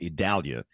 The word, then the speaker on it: Idalia: Hurricane Center first off we know that you don't say I it's e which makes no sense because it's the I storm but it is e